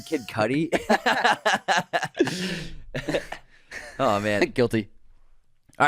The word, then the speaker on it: Kid Cudi: I said it yeah you said kid cutie on air I'm like you mean Kid Cudi oh man guilty all